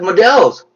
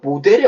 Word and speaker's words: model: 자, 영어에 있어서요, 모델, M-O-D-E-L은 모델이라고 발음되지 않는 거예요. model입니다.